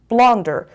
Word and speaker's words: blunder: Blunder. استرسش کجاست بچه ها؟ روی سیلاب اولش هستش. Blunder. 2 syllables. The stress is on the first syllable.